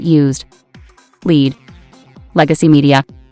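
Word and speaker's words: lede: pages lead an alternative us spelling of lead pronounced lead meaning the first paragraph of a news story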